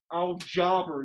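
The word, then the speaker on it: الجبر: Al-Jabr is how it's pronounced.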